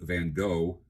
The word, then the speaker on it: Van Gogh: Although someone recently told me that the name Van Go, the G O G H is pronounced like the word cough.